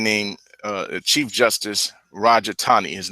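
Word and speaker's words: Taney: by a man named uh chief justice Roger Tani his name his name is actually pronounced Tani most people say teny but it's it's actually pronounced Tani Roger Tani and he in his opinion he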